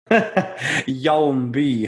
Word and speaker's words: Hjalmby: say your last name hit me with it young be hjl mby at no point was I ever gonna pronounce that from the way that it's spelt